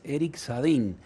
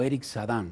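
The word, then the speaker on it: Éric Sadin: filósofo y ensayista francés Eric sadin o Eric sadan vamos a ver según la pronunciación la fonética eh francesa hablando de eh algunas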